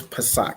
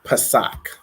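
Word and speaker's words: Pesach: okay so Passover is Pak so it's going to be Pa a sa a C and it's pronounced Pak okay so those are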